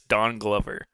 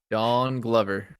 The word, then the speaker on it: Donald Glover: brother and then he he said donald glover's name is don glover dawn glover don glover and it's like actually a real way to say his name you know sounds like oh i see